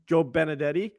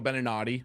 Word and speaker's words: Beninati: You have your boy Joe Benadetti. Joe Beninati.